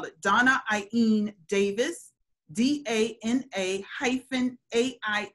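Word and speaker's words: Dána-Ain Davis: washington medical apartheid doc her name is not pronounced the way it spells i'm going to spell it donna ein a davis a hyphen a i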